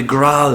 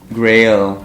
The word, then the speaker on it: grail: He has the growl here. A chalice. Yeah, the growl. What's growl? Growl. Growl. Sacred growl. Grail. Oh, is that how you say it? In Italian we say growl.